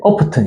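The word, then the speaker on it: often: 그래서 내가 오픈 이랬지. 아니래. 오프튼 이래. 그러니까 애들은 T 발음 못 버려.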